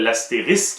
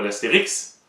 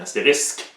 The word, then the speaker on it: astérisque: aussi on a fameux la fameuse étoile l'astérisque et non pas l'Astérix mais tu vas l'entendre mais tu mettas un petit Astérix non c'est un astérisque voilà en gros ce